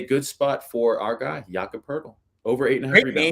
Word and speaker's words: Jakob Poeltl: So I think this is a good spot for our guy, Jakob Poeltl, over 8.5 Great rebounds. name pronunciation, by the way.